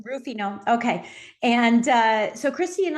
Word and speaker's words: Ruffino: Perfect, just like the wine. Ruffino.